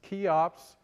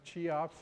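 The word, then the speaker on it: Cheops: First, let me say that the order they were built in was kufu, also known to the Greeks as kops or sometimes chops if you pronounce it wrong.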